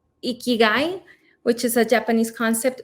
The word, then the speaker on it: ikigai: that so there's on the iki let me pronounce it right ikigai which is a japanese concept meaning of a